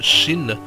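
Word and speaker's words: שׁ: Par exemple, la lettre Shin, lorsque le point se met à droite, on a bien le che comme château.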